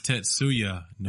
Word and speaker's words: Tetsuya Nomura: However, Tetsui Nomura. Nomura. Yeah, whatever. And it's Tetsuya Nomura. Yeah, it's a word. Not Tatsui.